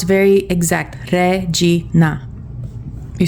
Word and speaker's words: regina: And then regina. This is you're going to have to roll the Rs. Regina. Regina is queen.